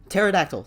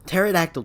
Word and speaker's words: pterodactyl: that's the p is pterodactyl pterodactyl David pterodactyl yeah there's a p at the beginning of that but it's silent but that's like an